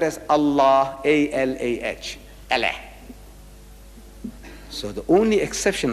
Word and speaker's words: Allah: only thing i'm saying you must pronounce it the way i ask you to pronounce allah you can spell it but say allah not allah you know what in